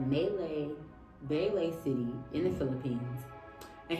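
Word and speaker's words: Malaybalay: how do you say melee B City melee B not manday but melee B City in the Philippines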